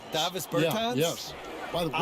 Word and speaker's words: Davis Bertans: Oh, well now, at this point in my life, it's Davis Bertans. Is that how you say his name? Yeah. Davis Bertans. Davis Bertans?